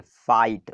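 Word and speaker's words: fight: इसमें पढ़ेंगे फाई आई का आई साउंड निकालेंगे फाइट और जी एच को हम नहीं पढ़ रहे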